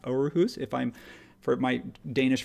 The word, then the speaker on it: Aarhus: It's two A's, which is, we don't have that letter in our alphabet. So it's sort of pronounced Aarhus if I'm...